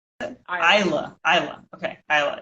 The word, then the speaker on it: Isla: Isla. Isla. Okay, Isla. It's in my head now. We're good. Isla.